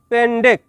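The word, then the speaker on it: pendek: শব্দটি লেখার ক্ষেত্রে লিখতে হয় পেন্ডেক, তবে এর সঠিক উচ্চারণ হবে পেন্ডে।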